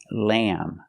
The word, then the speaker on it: lamb: sound ham lamb remember with lamb the B is silent lamb and Dam again those